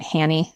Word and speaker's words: Hannie: Hanie, we would pronounce that Hannie, so I'm going to Hanie, was a work nickname for Janette Johanna Shaft.